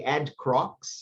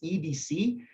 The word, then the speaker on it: EDC Rocks: They say Ed Crocs. So don't say that, please. It's EDC because it's English Development Courses.